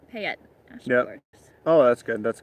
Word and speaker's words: Payette: right then you were you were right first pay it okay pay it yeah oh that's good